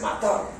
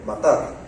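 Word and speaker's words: מטר: en cuatro maneras dice una es matar literalmente así como sale en español Así suena en el hebreo matar y esa servir una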